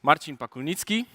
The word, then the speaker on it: Marcin Pakulnicki: at scale so uh my name is Marin pakuni this is the correct pronunciation I'm from Poland and